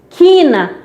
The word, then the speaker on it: quina: Quina, aí eu tenho que u, que é dígrafo, então a pronúncia é quina.